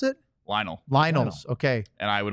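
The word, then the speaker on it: Lynel: horse thing that's very difficult how do you pronounce it Lionel Lionel okay and I would always quit the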